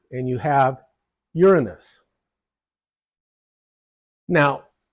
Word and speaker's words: Uranus: U, and you have Uranus. Now, the emphasis is on the first syllable, Uranus, but some people prefer the emphasis on the second syllable, Uranus. Anyway, it should be Uranus.